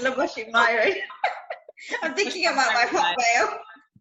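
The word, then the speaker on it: Labosshy Mayooran: Oh my God, not Sri, it's Laboshi Myron. I'm thinking about my hotmail. Labo, do you want to spell that?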